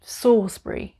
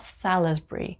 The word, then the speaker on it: Salisbury: And number 20, we have Salisbury. Salisbury. Not Salisbury. Here we don't pronounce the L, we just say Salisbury.